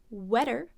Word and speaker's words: wetter: outside than in here compare it to wetter which is the same sound except for that instead of the short oh we have a short e right ah not ah wetter wetter these clothes are wetter